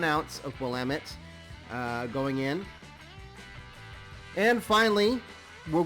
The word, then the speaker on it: Willamette: Willamette hops, 4.5 alpha acid. And if anybody was ever wondering, it's pronounced Willamette.